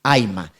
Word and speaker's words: Ayma: Ya, el Aima, para los que no saben, se escribe A-Y-M-A, Aima.